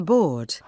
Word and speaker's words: board: looking 보는 건 좋은데 board 이게 영국식이면 R 발음이 빠지고요. D 발음을 되게 약하게 해요. 앞에 강세가 있으니까.